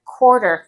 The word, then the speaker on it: quarter: But, quarter. You don't pronounce the U on that.